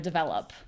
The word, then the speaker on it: develop: I'm going to repeat that again slowly. Lup. Develop.